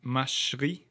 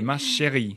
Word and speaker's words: ma chérie: It's ma chérie. No, here you don't do a gliding because there's an accent. I'm sorry, can Oliver. You try and glide. Yeah, I know. Okay, ma chérie.